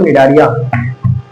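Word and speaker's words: Cnidaria: not only belong to निडारिया हां याद आ गया ना देखो ये आपका निडारिया का है अभी निडारलिया के अभी सी लिखा है तो सी यहां पे साइलेंट है तो जो आपका निडारलिया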